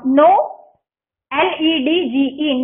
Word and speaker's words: knowledge: And last our 20th dictation is KNOW, know, LEDGE, knowledge, okay. KNOW, के जो है वो साइलेंट होगा, LEDGE, knowledge, ओके।